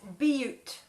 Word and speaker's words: Butte: So there's been an update on how to pronounce crested, wherever it is in Colorado, that that Missy and Phil are from. It's Butte.